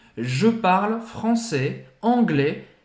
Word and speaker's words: parle: Não é parle, tá bom? Apesar de ser o E que tá aí também, como no je, não pronuncia esse E.